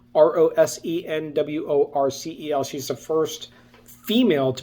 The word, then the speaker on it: Rosenworcel: The second name, Jessica Rosenworcel, I believe is how you pronounce her name, Rosenworcel.